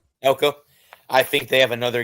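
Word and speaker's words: Elko: Um, but yeah, I think they're they still have, you know, is it Eco? Is that how you pronounce their coach's last name? Elco. Elco.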